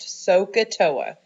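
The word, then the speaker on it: SOHCAHTOA: All right, now the way that we remember this, okay, is think of it kind of like an Indian word. We say Sokotoa, okay, so if you can remember that, it's pronounced Sokotoa.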